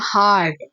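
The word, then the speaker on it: hurt: Have a हार्ट। Have a हार्ट। हार्ट। ठीक है? इसे लंबा प्रोनाउंस करेंगे। जो दूसरा होता है एच यू आर टी वो हर्ट होता है।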